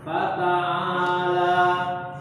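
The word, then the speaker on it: فتعالى: Huruf ta-nya jangan tebal ya. Fata'ata. Ta, tipis ya. Fata, coba fata. Huruf ain itu tipis ya. Fa, ini semua tipis semua hurufnya nih. Fata'a, paling enak seperti ini bacanya. Fata'ala. Nah itulah. Fata'ala. Tipis semua. Jangan pusing-pusing kita ini ya. Jangan balik-balikin, biarin karena posisinya tipis semua.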